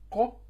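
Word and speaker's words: قاف: Ici, se prononce la bouche pleine, donc c'est ko, et ici, la bouche légère, que.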